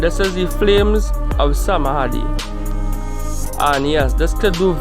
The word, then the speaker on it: Samadhi: Some of Kashin Koji powers include Flames of Samadhi, or according to the pronunciation, it will be Samadai, which is similar to the Amaterasu.